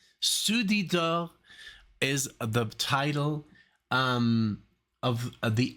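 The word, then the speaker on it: Ceux du dehors: Okay, so it's pronounced Soudidor. Soudidor is the title of the album.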